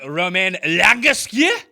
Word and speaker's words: Romain Langasque: Oh, you mean my main man, Romain Langasque? There we go. That's how you say it.